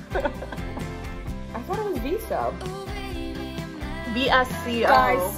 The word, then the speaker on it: VSCO: Girl, isn't it Visco Girl? It doesn't matter. They're awful either way. I thought it was Visco. VSCO. Guys, sound off in the comments. Yeah. How do you pronounce Visco it?